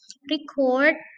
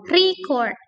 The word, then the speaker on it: record: Contoh kata record. Record, kalau kita stress pada first syllable such as record, record, record, record. Nah, ini berarti noun. Tapi kalau record, record, ya saja recording, recording, recording. Nah, penekanannya atau stressnya ada pada second syllable, maka ini verb.